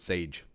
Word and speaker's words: Sage: By the way, the Sage in my name is pronounced just like the word sage.